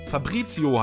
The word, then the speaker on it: Fabrizio: Fragt der Fabrizio. Ich hoffe, es ist richtig ausgesprochen. Fabrizio heißt das. Ich habe das R überlesen.